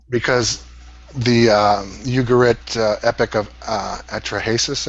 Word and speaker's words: Atrahasis: Because the Ugarit Epic of Atrahasis, I believe it's pronounced. I always say Atrahasis. What's the difference?